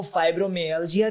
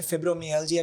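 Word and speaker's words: fibromyalgia: इसको फाइब्रोमियाल्जिया भी कहते हैं, फिब्रोमियाल्जिया भी कहते हैं।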